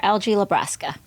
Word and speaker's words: Algie LaBrasca: We have, and I'm going to pronounce it correctly, Dr. LG Lebrasa.